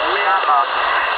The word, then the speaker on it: Mehamn: dise pas de bêtises, c'est Miam, ça s'écrit Mike, Echo, Oscar, Alpha, Mike, Novembre. Ah oui, il n'y a pas de A à la fin, donc c'est Miam.